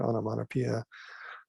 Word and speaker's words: onomatopoeia: also what's called the onomatopoeia that's how you pronounce that word onomatopoeia so you know tick tock gluglug these are